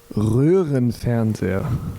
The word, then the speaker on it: Röhrenfernseher: Röhrenfernseher.